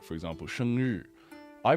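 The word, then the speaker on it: 生日: So it's like be like 生日, 生日. It's almost like the ZH pronunciation.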